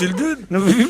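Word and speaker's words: Yldune: Hildune, ça s'écrit Hildune, ça se prononce Hildune.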